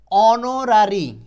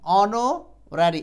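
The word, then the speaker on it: honorary: এরকম আচ্ছা এবার দেখেন অনরারী অনারি এইখানে এই যে এইচ এর উচ্চারণ কিন্তু নাই উচ্চারণের সাথে ম্যাচিং যদিও শব্দের শুরুতে এইচ আছে কিন্তু উচ্চারণটা কি অনারি এই যে দেখেন অনারি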